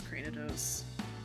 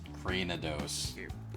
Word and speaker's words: Cranidos: be that person but I think it's Cranidos like Cranium Cranidos oh yeah no you're right